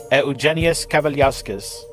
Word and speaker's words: Eugenijus Kavaliauskas: Eugenius Cavaliosquez. And if you're wondering, yes, that is the correct Lithuanian pronunciation.